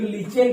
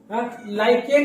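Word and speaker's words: lichen: थोड़ा प्रोनाउंसिएशन देख लेना इसका, कुछ लोग लीचेन पढ़ते हैं। लाइकेन एक प्लांट है, उसके बार्क से मिलता है लिटमस पेपर, है ना।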